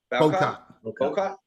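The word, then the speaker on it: Bowcott: Yeah, I mean, you couldn't tell though that Nick, how do you pronounce his last name? Bocott.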